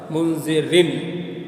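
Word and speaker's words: منذرًا: تو منذرن میں اگرچہ نون لکھنے میں نہیں آ رہا ہے مگر پڑھنے میں آ رہا ہے منذرن.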